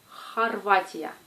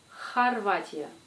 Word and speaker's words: Хорватия: Comme dans le mot Хорватия. Хорватия.